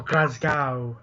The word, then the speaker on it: Glasgow: Alexa Bliss will still get the Women's Championship match on November the 8th when SmackDown comes to us from Glasgow, Scotland. Yes. Or Glasgow, as they pronounce it that way.